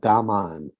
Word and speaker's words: gaman: It's called gaman, and it's spelled Gaman if you use English letters.